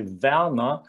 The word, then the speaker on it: Werner: Because if you listen closely, when I say Werner, you do not hear an R, do you?